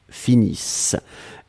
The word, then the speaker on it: finissent: nous finissons vous finissez ils elles finissent iss ent mais on ne les prononce pas donc le nt comme